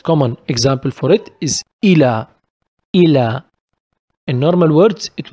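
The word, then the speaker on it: إلى: If we found it without dot, we don't give it e sound. We don't pronounce it like this. We pronounce it like a. The most common example for it is ila.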